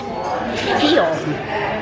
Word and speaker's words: Fion: And it's pronounced Fion. Fion, which means something that grows from the soil.